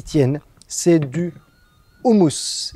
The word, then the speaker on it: houmous: C'est du houmous. La façon normal de le prononcer, c'est hummus.